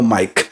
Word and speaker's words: Maic: My name is spelled a little different, but it sounds as normal Mike.